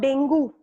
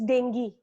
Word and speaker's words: dengue: Then it is not dengue. I didn't get dengue fever. It's dengue. The correct pronunciation will be dengue.